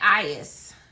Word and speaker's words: Aries: All right, Aries is how you pronounce it.